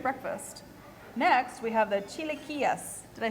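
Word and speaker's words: chilaquiles: it's a great breakfast next we have the Chile Kias did I say it right you said it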